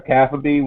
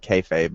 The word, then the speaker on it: kayfabe: I pronounce it kayfabe, but it's the same thing.